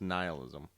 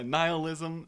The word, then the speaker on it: nihilism: is it an illness I've always heard it pronounced nihilism yeah nihilism nine but then that makes it sounds sound like the Nile yeah like your love